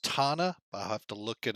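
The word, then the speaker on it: Tanana: Now, Calhoun Memorial is actually, I believe it's pronounced Tana. I'll have to look it up here real quick. Hang on. Whoops. Yeah, Tana.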